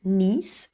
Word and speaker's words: niece: Alors attention au mot nièce, il s'écrit pareil, sans accent, mais il se prononce niece et au pluriel nieces.